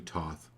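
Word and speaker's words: Thoth: love and be loved be willing to let those go good so the group card tonight goes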